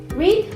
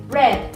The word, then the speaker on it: read: Entonces, eat, ate, read, read. Ojo con este porque este se escribe igual y se pronuncia diferente en el tiempo pasado.